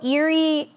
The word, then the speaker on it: Erie: got American covered also Eerie sounds like the word Eerie which means spooky and Halloween is spooky